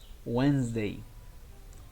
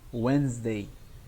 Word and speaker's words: Wednesday: is when is die no right the correct pronunciation is wednesday wednesday you can omit this word do not say